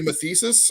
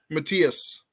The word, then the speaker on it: Matthias: I always want to say Mathesis or, yeah, it's Say Matthias. I get it it one close. more time for me, Monty, so I can say it right. Matthias. Matthias. It's like Medea, but Matthias. Yeah, it's It not.